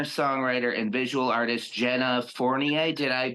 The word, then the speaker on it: Fournier: Ladies and gentlemen, I am here with singer, songwriter, and visual artist Jenna Fournier. Did I pronounce that right?